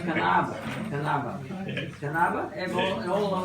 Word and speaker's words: Knabe: It's Knabe. Correct. There are no silent letters in German.